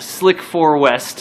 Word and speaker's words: SLC-4 West: Your location is SLC-4 West, Space Launch Complex 4 West, Slick 4 West. Slick 4 It West. actually says that on the sheet. Pronounced Slick 4 West is what it says.